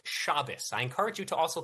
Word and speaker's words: Shabbos: I said that we live in a democracy where the whole video, Shabos. I've seen the entire video. Okay. Yeah, I've seen the whole thing. Also, it's pronounced Shabbos.